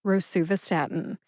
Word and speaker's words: rosuvastatin: Sue, like the nickname for Susan, Sue. Va, like the back half of the drug company's name, Teva. Stat, as in, I need that right away. And in, like I put the pills in the bottle. Put all 5 syllables together and you get rosuvastatin. Emphasize su and stat. Emphasize stat the most.